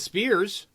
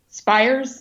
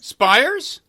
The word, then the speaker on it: Spiers: video and audio podcast and you are Elizabeth Spears actually how do you wait how do you pronounce it spires spires mm-hmm shocking I'm gonna have to totally reassess